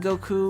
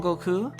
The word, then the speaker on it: Goku: is that also why people like saying goku with that emphasis on that last syllable um i think so